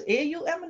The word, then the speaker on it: AUM: that's why sometimes who people just think that there are three syllables AUM no still one syllable Rishi panting you said